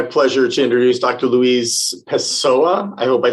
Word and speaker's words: Pessoa: Yeah, I actually pronounced it exactly. Yeah, it's Pessoa.